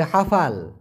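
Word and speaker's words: hafal: এখান থেকে মুখস্ত করে ফেলবেন হাফাল হ্যাঁ হাফাল উচ্চারণটা হবে হাফাল হাফাল মানে মুখস্ত করা এখন আপনারা তের হাফাল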